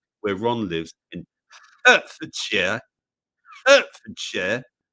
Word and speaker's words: Hertfordshire: Hertfordshire. You say it like that, not Hertfordshire. Or if you're from London, you go Hertfordshire. You don't pronounce your H's.